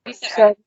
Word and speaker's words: Schroeder: How do I pronounce that? Schroeder.